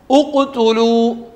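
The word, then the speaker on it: اُقْتُلُوا: എന്നാൽ ചില സ്ഥലങ്ങളിലോ ഉഖ്തുലു ഉ പറയേണ്ടി വരും, ഉഷ്ദുദ് ബിഹി അസ്രി, അവിടെയും ഈ അടയാളം ഉണ്ടാവുക.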